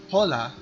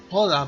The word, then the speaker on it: Hola: Now, you can say Hola, buenos dias or Hola, buenas tardes. The H is silent.